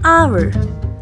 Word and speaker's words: hour: absolutely correct correct an hour here in the word our H is silent and we don't pronounce it we pronounce our as